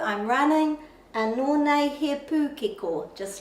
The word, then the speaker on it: pūkeko: So we say pūkeko, but the pronunciation of the letter O in Te Reo Māori is O, pūkeko, pūkeko.